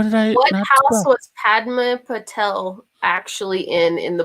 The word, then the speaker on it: Padma: i do what was padma patel actually in in the book oh padma yeah so there's yeah not parma there's twins pavardi and